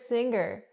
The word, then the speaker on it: singer: The word is not pronounced singer. I cannot pronounce the gggg. The hard g sound here. I cannot say singer. I say singer. Singer. The sound is in your nose. Mm. Singer. Link the sounds.